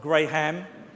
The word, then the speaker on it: Graham: It's spelt with an H, and you don't pronounce the H, by the way. So it's not Graham, but I don't get offended.